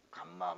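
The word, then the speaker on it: γάμμα: 이것도 발음이 여러가지 야 무조건 감마 라고 해서 감마 니까 이것은 예외 없이 우리의 기업 긍까 가 나옵니다 이것만 있어요 영어에 이거는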